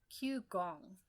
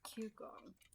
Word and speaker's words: Qigong: I practice Qigong. Okay, I have no idea what Qigong is. Let's see. Let me look it up. Qigong. It's Qi and then the word gong.